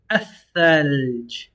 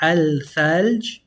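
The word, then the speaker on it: الثلج: That double tha, one of them is going to eat the lam. So you're not going to say al-thalj. You're going to say ath to pronounce that double tha.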